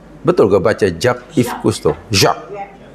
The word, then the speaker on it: Jacques: Jacques. Ya, J-A-C-Q-E-S. Jangan bacanya. Jacques. Tak apalah dipanggil Jack pun dia tak marah.